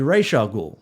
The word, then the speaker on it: Ra's al Ghul: no one can just pronounce the name right consistently Ra's al Ghul I said it myself it should be ratio cool yeah and that's what